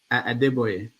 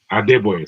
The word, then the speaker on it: Adeboye: I forget how you pronounce his name. Adeboye. Adeboye, thank you.